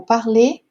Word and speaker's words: parlez: mais uma marquinha aqui, a pronúncia do EZ é também E, como se fosse um E com acento circunflexo, tá certo? Então, parler, vous parlez, nous parlons, tá certo?